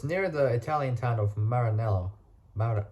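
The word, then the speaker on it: Maranello: uh so it's near the Italian town of Marinello Mar maranelo there we go in Italy under F under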